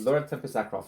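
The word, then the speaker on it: Laura Tempest Zakroff: Um, but Laura Tempest Zro, I think is how it's pronounced. Lauren Tempestro. Yes. Okay. You he said her name correctly. Okay.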